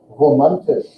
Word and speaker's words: romantisch: So here's where the R sound comes from, especially when it's the first word in the syllable or the beginning of the word. It's romantisch. Now, I don't expect anyone to manage that. If you can, great, but it comes from further back in your throat, though.